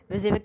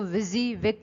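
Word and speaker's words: WYSIWYG: था ना आपका विजिविक, विजिविक ऐसे लिखते हैं, अभी हम पढ़ेंगे भी। ये एक अदद स्पेलिंग है विजिविक की, इसको विजिविक पढ़ा जाता है, प्रोनाउंस इसको विजिविक किया जाता है।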